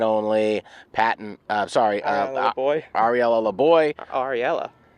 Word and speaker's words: Ariella: Ariella. Oh dear, I think I pronounced I said Ariana last game.